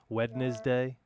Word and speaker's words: Wednesday: it's like wed do you don't pronounce the d in wednesday though do you the second the first e you pronounce only the second d wednesday um okay dan yeah